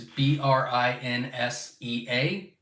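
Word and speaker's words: Brinsea: So Brincia is Brinsia.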